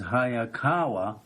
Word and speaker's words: Hayakawa: a lot of people do last name is hayakawa Hawa which means in Japanese which means fast